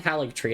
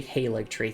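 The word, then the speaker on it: Haligtree: Anyway, uh so it's not a hik tree, it's actually hik tree.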